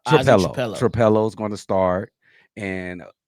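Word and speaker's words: Trapilo: This name Tripoli. How are you pronouncing it? No, Trapello.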